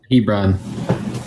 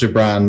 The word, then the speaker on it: Gibran: Hebron. Was it Hebron? Hebron, yep. So you don't pronounce the G, it's like an H.